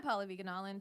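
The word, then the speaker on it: Pallavi Gunalan: I'm Paula Viganalin, PALLAVIGUNALAN. I'm Zara Ali. It's really Zara on all the things. Zara is spelled Zahra.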